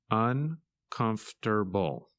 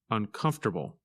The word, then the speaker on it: uncomfortable: and its opposite comfortable when you say this word you do not pronounce some of the letters that you see in the written word in this lesson you